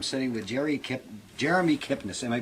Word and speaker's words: Kipnis: in Connecticut I'm sitting with Jerry Kip Jeremy Kipnis am I pronouncing that correctly that's correct okay in in